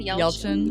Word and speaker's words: Yelchin: Yelchin.